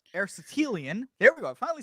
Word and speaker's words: Aristotelian: Aristotelian.